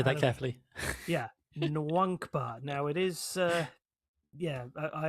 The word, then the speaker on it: Nwankpa: Yeah Nwankpa. Now it is uh I have been told it is pronounced that way but N W A N K P A that's how you spell it.